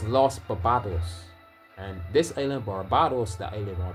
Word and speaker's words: Barbados: This island that I live on called Barbados is supposed to be pronounced Barbados, but it's really Barbados, because this island is named after a fig tree called the bearded, right?